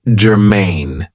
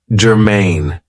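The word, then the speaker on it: germane: have for you is Germain now this is two syllables and the stress is on the second syllable Germain it means that something is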